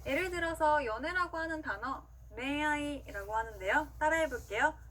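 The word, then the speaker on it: 恋愛: 그 다음은요, 니은과 이응의 중간 발음이에요. 어떻게 들었을 때는 니은처럼 들릴 때도 있고 이응처럼 들릴 때도 있는데요. 이 글자들 아행, 하행, 야행, 와행 앞에 왔을 때, 이 글자들 아행, 하행, 야행, 와행 앞에 왔을 때, 그리고 응이 단어의 맨 마지막에 왔을 때는 니은과 이응의 중간 발음으로 소리 납니다.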